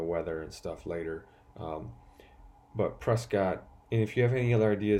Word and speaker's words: Prescott: Prescott, or as they say here in Arizona, I mean it's spelled Prescott, but they say Prescott.